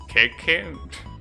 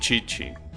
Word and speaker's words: Chichi: I did meet Chichi, who YouTubers call... Keke? No, you pronounce it Chichi.